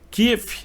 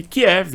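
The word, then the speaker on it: Kyiv: questões da geopolítica então kif ou Kev são nomes que se referem à capital da Ucrânia porém kief é uma pronúncia ucraniana enquanto que Kiev é uma pronúncia russa e por isso portanto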